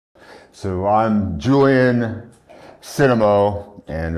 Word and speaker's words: Cennamo: So I'm Julian Cennamo, and I believe my name is actually supposed to be pronounced Cennamo, but everyone knows me as Cennamo, so we'll just keep it at Cennamo.